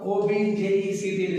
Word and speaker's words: object: Another word, O-B-J-E-C-T is spelling. In noun, it is pronounced object, shay, ya maqsad. But in verb, it is pronounced object means etraz kar.